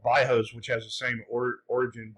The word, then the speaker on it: bairros: And they're called bairros, which has the same origin, bairro, like barrio in Spanish, but they pronounce the double R's like an H in Brazil.